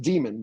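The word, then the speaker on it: Daemon: Warz or I mean it's actually spelled it's pronounced demon but it's it's da m o n um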